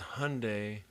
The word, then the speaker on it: Hyundai: it was there like it's it's Hyundai like Sunday so yeah I just